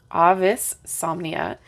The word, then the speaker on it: Avisomnia: Wands so AIS somnia Ah that's how you say it Avis somnia which is Latin for